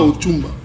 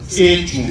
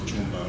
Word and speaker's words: Echumba: Ce n'est pas Ochumba. Echumba. Echumba. Parfois on prononce Ochumba. Voilà.